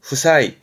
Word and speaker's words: 負債: 체자 빚을 말합니다 요거는 승부의 부자니 이게 부채입니다 발음은 후사이 후사이이 부자가 질부 아라서 그 빚을지는게 부채가 되지요